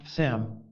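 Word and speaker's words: mtshams: to shut himself in Sams written chams and pronounced samam the word samam signifies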